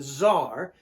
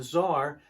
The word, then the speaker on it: Tsar: And then news comes that the Tsar, C-Z-A-R, the Tsar of Russia, Tsar means king, you can also spell it T-S-A-R, the Tsar of Russia abdicates his throne.